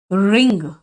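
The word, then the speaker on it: wring: एंड फिर निचोड़ लो, निचोड़ने का इंग्लिश हुआ रिंग। W साइलेंट है, किसको निचोड़ ले, वही कपड़ों को देम।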